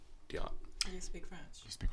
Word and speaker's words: Diotte: eric yes eric eric diat is it a silent t it's it's a french name so it's if you want to be french about it yeah but english it's diot you speak french you